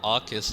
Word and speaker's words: Arceus: And yeah, before we go on, yeah, there's a lot of people who pronounce like Arceus in different ways. I've heard Arceus as well, but Arceus is what I go with.